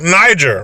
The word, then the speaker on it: Niger: from the country of, now we know this country, Niger, it's pronounced Niger, right? But in the mind of a nervous 10-year-old, it could be pronounced as something else.